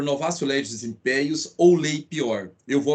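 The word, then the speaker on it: novatio legis in pejus: Isso, pessoal, em latim a pronúncia é essa. Então lex gravior. Essa é a pronúncia correta. E o novácio, a gente soletra, né? Novatio legis impeius, como alguns falam, mas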